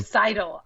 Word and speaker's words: Seidel: Seidel.